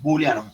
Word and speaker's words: booleanos: Se pronuncia así, booleanos, viene de una palabra en inglés, de un matemático inglés, George Boole.